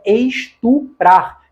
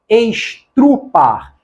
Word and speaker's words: estuprar: O correto é estuprar, estupro. Esse negócio de falar estrupar, estrupo, está errado. O correto é estuprar, estupro.